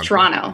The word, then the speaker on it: Toronto: service this morning wait you know how it's t-o-r but yes a lot of you want to say tr like anto yes toronto like that yeah don't worry i